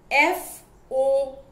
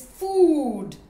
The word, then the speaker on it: food: for you is food f-o-o-d food now you see this food takes the long oo sound food now some children